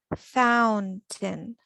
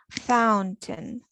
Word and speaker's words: fountain: Fountain. Обратите внимание на написание и произношение. Fountain. Tin. Fountain.